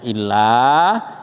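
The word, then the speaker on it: إلا: illa apa illa Pak kecuali kalau ada tasdidnya illa itu artinya kecuali Tetapi kalau enggak ada tasyidnya bacanya Ila itu artinya Kepa kepada ilahikum kan ilaihim kan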